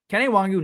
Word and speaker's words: Kene Nwangwu: move we have ad kenaiwangu and yes that is how you pronounce it i had to google it because i mean of course i did but kennywongu now that he is